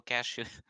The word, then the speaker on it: cashew: to buy a magical cashew. Don't put the T in that word.